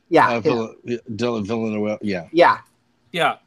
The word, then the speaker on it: Villeneuve: Yeah, Villeneuve. Yeah. yeah. Yeah, because it looks like it should be about 5 syllables, and when he says it, it's 1.